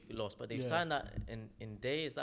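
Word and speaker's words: Ndiaye: But they've signed that in Day. Is that how you pronounce his name? Ndai, yeah.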